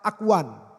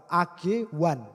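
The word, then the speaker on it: ἀγών: Saudara lomba atau race ditulis dengan agon dalam bahasa aslinya ya bacanya adalah Akuan ya Akuan agwan Akuan itu cara bacanya secara kiasan ya lomba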